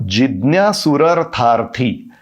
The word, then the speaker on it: जिज्ञासुरर्थार्थी: आर्तो, आर्तः ये एक्चुअल शब्द है और जिज्ञासुरर्थार्थी ये जो एक ही शब्द है, ये जिज्ञासुः और अर्थार्थी इन 2 शब्दों की संधि से बना है। जिज्ञासुः और अर्थार्थी। और उच्चारण कैसे करेंगे? जिज्ञासुरर्थार्थी, इस तरह।